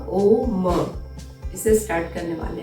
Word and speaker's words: ओम: में तीन चीज हो तीन जो पॉइंट है वो काफी इंपोर्टेंट है अ ओ म यानी अ कार ओ का एंड म का सबसे पहले आपके पेट